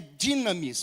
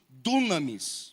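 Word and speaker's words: δύναμις: a gente usa o a pronúncia é dinamis, mas a gente fala muito dunamis, não é?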